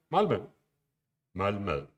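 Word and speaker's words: Malmö: it's pronounced if you didn't know whoever and malmo that's how that's pronounced i'm going to skip to the next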